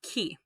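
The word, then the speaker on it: 木: i stink with a computer mouse this is pronounced key okay now that means tree so let's say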